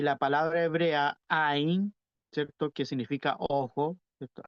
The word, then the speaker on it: ayin: letra también que es ain. Hay una letra que se pronuncia ain o ayin, le dicen algunos, pero es más o